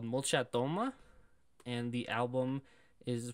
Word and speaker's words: Molchat Doma: So the band we're going to listen to is called Molchatoma. And the album... is pronounced etaji, as Google Translate tells me. It means floors. If you look up Molchat Doma, MOLCHATDOMA, it's their like most popular one.